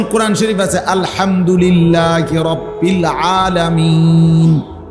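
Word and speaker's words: العالمين: শরীফে আছে আলহামদুলিল্লাহি রব্বিল আলামিন এইযে আলামিন এ শব্দটার নুনের মধ্যে জবর তাহলে মূলত হবে আলহামদুলিল্লাহি রব্বিল আলামিনা কিন্তু আপনি মিনা কেন কন না এজন্য যে আপনি নিঃশ্বাস ফেলাইছেন মানে এ শ্বাস ফেলছেন এইজন্য এখন শেষের অক্ষরটার মধ্যে কি বানাইলেন?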